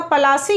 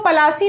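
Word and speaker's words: पलाशी: लेकिन जो ब्रिटिशर्स थे इसको सही से प्रोनाउंस नहीं करते थे, तो उनका जो एंग्लिसाइज्ड वर्जन था प्रोनाउंस करने का पलासी को, तो पलासी को वो पलासी नहीं कह के प्लेसी कहते थे।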